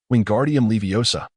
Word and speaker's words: Wingardium Leviosa: Wingardium Leviosa, he shouted, flailing his arms like a windmill. You've got it wrong, Hermione interjected bluntly. Its wingardium leviosa. The gar must be pronounced long and clearly.